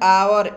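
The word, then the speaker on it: hour: एच ओ यू आर इसको हम उच्चारण करते हैं आवर एच साइलेंट हो जाता है ठीक है ना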